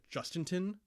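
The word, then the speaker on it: Jhostynxon: that according to him, his name is pronounced Justinton Garcia.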